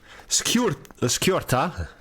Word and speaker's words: skjorta: Skjorta is pronounced skjorta. The SKJ is also the just like the SJ in gu. The SKJ in skjorta is also skjorta.